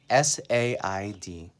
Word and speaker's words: said: so let's do say first say becomes said sa ID the way you pronounce this word is s II D said